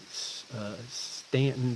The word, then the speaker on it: Staunton: We drove up to Stanton to see them. Y'all might pronounce it Staunton.